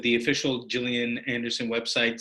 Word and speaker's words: Gillian: uh said the official jillian anderson website says it's pronounced with a soft g not a hard one it's jill like jam as opposed to gun that's the quote so